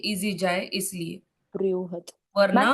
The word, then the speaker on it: बृहद: जो ब के नीचे आधा आधा मून होता है, इसका प्रोनाउंसिएशन थोड़ा ऊ करके हो जाता है ना, बृहद ऐसे करके हो जाता है ना। बृहद, ब्रू या फिर ब्री, कोई भी उच्चारण कर सकते हो ये।